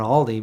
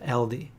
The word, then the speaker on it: Aldi: trouble for calling on aldi because it somebody told me it's actually pronounced ld so i don't know doesn't